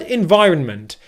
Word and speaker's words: environment: syllables in this word the first syllable is very simple in in in just like i'm inside okay in the next syllable is the stressed syllable in this word which means that out